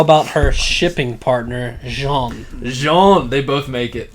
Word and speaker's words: Jean: asshole's name is that spelt like gene it's pronounced jean oh yeah jean's gonna die in and mikasa